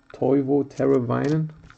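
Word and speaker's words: Teuvo Teräväinen: Toivo Teravainen. Correctly pronounced.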